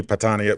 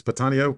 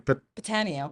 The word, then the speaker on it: Patano: up our guest patano oh I always said your name wrong it's patano patano patano yeah I'm not from New York I gotta say the hard way panoo let's bring up